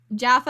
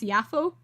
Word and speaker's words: Jaffa: cat you looked at the Wikipedia page for Jaffa and it's actually pronounced yafo I'm going to forget that I'm going to